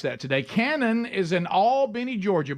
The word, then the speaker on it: Albany: Today, Canon is in all Benny, Georgia. Bub and I, we learned how to say it right. Albany. All Benny, Georgia. So, go ahead, Canon.